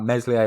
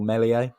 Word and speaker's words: Meslier: that is ilan meslier my french pronunciation is not perfect but his name is something like meslier or melies 20 years old which